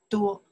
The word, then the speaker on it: 多: Duō, yeah, pronounced duō, yes.